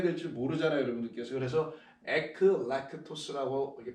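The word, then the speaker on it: ἐκλεκτός: 그래서 에클렉토스라고 이렇게 발음한다 이렇게 한글로 써드리는 거니까 이해해 주시기 바라고요.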